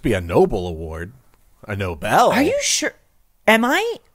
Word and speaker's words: Nobel: 2024 has Noble prizes Nobel isn't it pronounced no Noble yeah I've always heard it as Nobel Peace Prize the noble I think there's two ways of saying it Chris any reward can